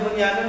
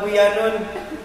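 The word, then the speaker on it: بُنْيَانٌ: Kenapa kok bisa bacanya Bunyanun enggak Buyanun? Belajarnya begitu. Kan ini gombinguna. Nun ketemu ya. Dalam satu kata itu.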